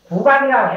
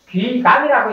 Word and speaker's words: 귀감: 가지로 다 있기 때문에 구감이라고 했다가도 귀감이라 했다도 사전 표기에 보면 같으니까 제대로 읽으려면은 이제 귀감이라고 읽어야 되는데 또 구감이라고 또 발음을 한단 말씀이죠. 그러니까 어떻게 해도 무방하다 이렇게 이제 하는 게 옳습니다.